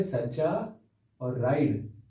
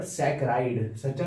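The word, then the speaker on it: saccharide: सच्चा मींस यहां पर सकरा इड सच्चा नहीं है ये सच्चा मतलब स्पेलिंग जैसी है इसकी तो सकरा इड्स पढ़ते हैं इसको क्या पढ़ते हैं सकरा इड्स क्योंकि लैटिन वर्ड आता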